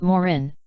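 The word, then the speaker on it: Maurin: briefly I am Moren he pronounced it Morin with the accent on the first syllable deliberately anglicizing the word George Schuster editor of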